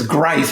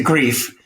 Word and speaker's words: Greif: It is Greif as opposed to Grief. Right. But everybody on the face of the planet, unless they're in Germany, pronounces it incorrectly.